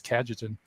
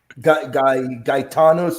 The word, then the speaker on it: Cajetan: And then White has another pronunciation, and I've always hered it as Cajetan. So let's just call him Thomas de Vio. It's easier. I've even heard it Gaetanos or Gaetano.